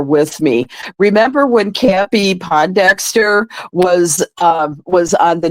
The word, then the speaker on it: Pondexter: me remember when campy Pondexter was um was on the New York Liberty and Bill lambir was the coach yeah well I had mispronounced the name to as po Dexter and and Bill lamb